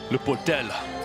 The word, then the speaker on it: Le Portel: Can you say that pronunciation again? Le Portel.